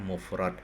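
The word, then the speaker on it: مفرد: Jamun jam jam jam'un ya bahasanya patah ini dua golongan ini judulnya ya mufrodun mufrad dibacanya mufrad nah contoh-contoh kata yang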